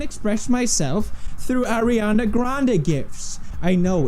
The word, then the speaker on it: GIF: You want to win all the gift cards YouTube down star below? PewDiePie has died at the age of... More importantly, it's pronounced GIF.